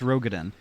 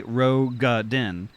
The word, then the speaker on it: Rogadin: Fun fact, I'd say 90% of player mispronounce Rogadin. It's actually Rogadin, but it's said in game once by Alfie.